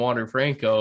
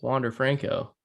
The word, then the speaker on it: Wander Franco: put 50 bucks on water franco and i'm going to see you boys you'd think if you loved the guy so much you could say his name right it's wander franco franco all right i don't